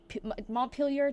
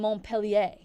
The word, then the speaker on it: Montpelier: But I was saying Montpellier, like thinking it's the French pronunciation. And everyone was like, you're saying it wrong, you're saying it wrong, you're saying it wrong. I'm like, I didn't believe them that it was Montpelier.